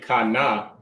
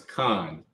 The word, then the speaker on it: Khan: connector shows you that instead of pronouncing it Kana right you connect the sound so you take Kai and not bring it together it becomes Khan right because it's the